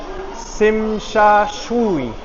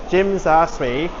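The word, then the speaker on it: Tsim Sha Tsui: It's so hard to pronounce. Simashui. That's what a lot of foreigners would say it. I I still can't pronounce it right even though I know the right way to pronounce it. But I think it's Jim Zashri. I was calling it Jim Zadre before, but a lot of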